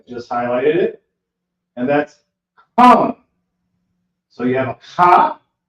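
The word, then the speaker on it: חם: And that's Ham. So you have a Ha, then you have a Ma. It's connected. It's pronounced Ham. And you can see that also in the same verse.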